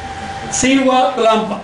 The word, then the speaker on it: Cihuatlampa: Cihuatlampa. Gua, pronúncialo pegando los dientes a los labios inferiores. Cihuatlampa. Si son mujeres pueden pronunciar Cihuatlampa, casi como ve corta.